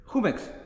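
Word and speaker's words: Jumex: a Mexican juice how do you say it humix humix it's juice I know it's just a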